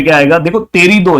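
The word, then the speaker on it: Pterido: पे क्या आएगा देखो टेरिडो, याद रखो टेरिडो, ऐसे याद रखोगे तो भी याद हो जाएगा, पी साइलेंट है।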